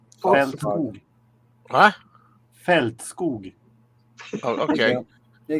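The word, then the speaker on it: Fältskog: Feldskog.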